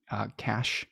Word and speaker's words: cache: It will store things that it has caught that are in excess in its cache or cache, or how do you say that word?